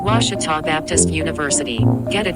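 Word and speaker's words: Ouachita: Texas everybody pronounces it Witchita but really it's wash wash wash how would you pronounce it wash was it's wash Baptist University get it right it's was people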